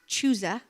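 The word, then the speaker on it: Chuza: Joanna, the wife of, it's pronounced Chusa, I've learned, the manager of Herod's household, Susanna, and many others.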